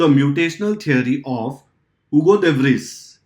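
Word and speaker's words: Hugo de Vries: the mutational theory of हुगो देव रीस यह हुगो देव राइस भी बोल सकते हो स्पेलिंग याद करने के लिए other wise it इज यूगो Devsari mean while in 1902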